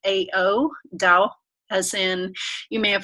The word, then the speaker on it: Tao: theory comes from Taoist thoughts so t AO dau as in you may have heard the tao